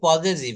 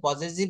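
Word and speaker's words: possessive: দেখেন তাহলে এই শব্দগুলা আমরা এইভাবে পড়েছি যে বাক্যে মালিকানা বা নিজস্ব কোনো সম্পদ বোঝাতে পজেসিভ, উচ্চারণটা করতে হবে পজেসিভ, হ্যাঁ এটা পজিটিভ বলবো না, এটা হচ্ছে পজেসিভ ব্যবহার করা হয়।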